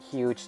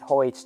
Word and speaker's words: Huje: And by the way, yes, I know some people pronounce it Huge Tower, but basically it's spelled with a J instead of a G. So because of this, I'm calling it Huje Tower.